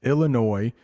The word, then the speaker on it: Illinois: yeah I know Illinois I know there's an S but it's pronounced Illinois that's the state that